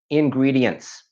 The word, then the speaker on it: ingredients: which is a big one, also a commonly mispronounced word, ingredients. To make it easy again, I have spelt it out as ingredients. Ingredients.